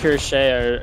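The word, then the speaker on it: Cuirassier: I believe Kurashe is the correct pronunciation.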